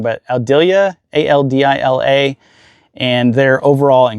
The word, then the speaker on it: Aldila: They have a senior flex shaft by, I'm going to say it wrong, but Aldila, A-L-D-I-L-A, and they're overall in great shape.